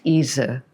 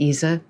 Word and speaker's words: Ise: ISE is pronounced Isa with the schwa vowel in German, Isa.